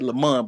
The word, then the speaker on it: Lemon: His last name is spelled Lemon. Right. It's said it's like it's said Lamont, but it's spelled Lemon.